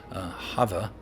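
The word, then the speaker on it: חוה: We say Eve, but in Hebrew, in modern Hebrew, they would say Hava, right?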